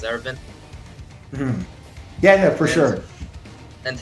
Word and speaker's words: Erwin: Well, sorry, I do pronounce it Erwin because of the English dub. That's how they pronounce it, as Erwin.